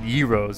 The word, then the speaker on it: gyro: what to call them gyro Euro when I was little and I first tried one it was carefully explained to me that they were called Euros they're pronounced euros and uh so since